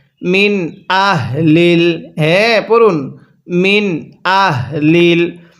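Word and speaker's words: أَهْلِ: মিন আহলিল, অনেকেই আমরা এখানে আহলিল এই হাটাকে উচ্চারণের সময় মুখ দিয়ে হালকা বাতাস বের করি, তাহলে কিন্তু পড়াটা সহি শুদ্ধ হবে না। এই হাটা উচ্চারণের সময় গলা দিয়ে এক প্রকার শব্দ হবে। মিন আহ, এরকমভাবে পড়তে হবে।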